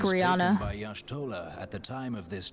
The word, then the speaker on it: Y'shtola: The significance of Y'shtola's Why readings did might better be he understood in pronounce the context Ishtola's of name my like that?